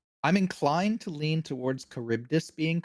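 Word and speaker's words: Charybdis: That's not I think it would be closer to a K sound. Yeah. So, caribus. I'm inclined to lean towards Kuribdus being correct because it's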